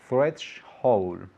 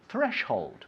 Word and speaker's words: threshold: threshold threshold threshold threshold fresh hold fresh hole with a d at the end okay threads hold threshold perfect with the end threshold